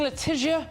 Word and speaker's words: Letizia: Coming up, Queen Letizia of Spain, is that right? Yeah, well, that's the right pronunciation.